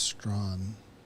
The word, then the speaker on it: Strachan: Yeah, well, the chat overwhelmingly says it's Strawn. So until I hear otherwise, that's how I'll be pronouncing the name. Because When we had the World Women's competition, they pronounced it as Strawn.